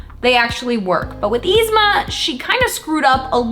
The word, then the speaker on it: Yzma: Yzma, it's just Yzma.